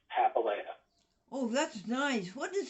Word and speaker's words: Papalia: It's Papalia, and it's Papalia. Oh, that's nice. What does that mean in Italian? Actually, I have no idea. I do know that it's an Italian last name, but the pronunciation is Greek.